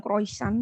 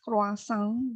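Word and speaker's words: croissant: kalian juga tahu adalah bacanya sih bukan kroisan begitu ya kalau bahasa Prancis kasang gitu ya kasang Bu purna takut terpleset lidahnya ya kita pakai saja kroisan gitu ya tapi itu aslinya tidak seperti itu bacanya kasang lalu cinamon roll cinamon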